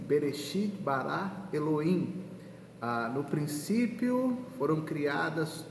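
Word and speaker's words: בְּרֵאשִׁית בָּרָא אֱלֹהִים: e o bacana que no hebraico esse versículo ele é pronunciado assim berechit bará Eloim Ah no princípio foram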